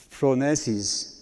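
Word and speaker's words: φρόνησις: Que la PH se pronuncia como F, ¿verdad? Como teléfono es phronesis.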